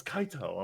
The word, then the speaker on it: Kaito: his name is Kite, and they're like, oh, it's Kaito. I'm like, what? So it's like the English pronunciation.